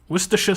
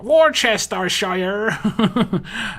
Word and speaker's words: Worcestershire: sauce god hello um i'm english so i can pronounce your name i want to see how all the americans pronounce the other name though war war war chest starshire um i have an